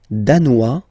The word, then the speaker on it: danois: Le Danemark, danois, danoise. Okay, insist on that. Danois, don't pronounce the final S.